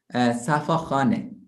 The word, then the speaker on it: Safakhaneh: Safakhaneh. Can you pronounce Safakhaneh?